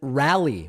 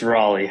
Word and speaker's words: Raleigh: today with Daniel in rally Raleigh Raleigh what is the right pronunciation Daniel I never remember it's Raleigh Raleigh welcome to the program